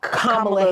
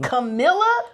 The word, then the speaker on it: Kamala: y'all are deliberately mispronouncing Kamala Harris's name. Camilla? Bitch, I'll shoot everybody in here. There is no E in her name.